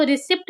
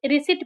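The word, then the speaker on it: receipt: For example RECIPT, इसको रिसिप्ट नहीं रिसिट पढ़ेंगे।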